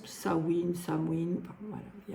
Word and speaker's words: Samhain: signifie fin de l'été ce mot gaïic se prononce sawin Samin voilà il y